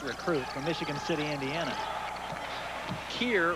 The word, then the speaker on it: Keir: Keir Rogers, like rhymes with beer, I guess.